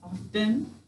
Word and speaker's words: often: Any silent letter, right? Double underline. All right, go ahead and mark often, if you did not yet.